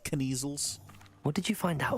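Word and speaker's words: Kneazles: howin for the measles I think I find it's pronounced kniesels what did you find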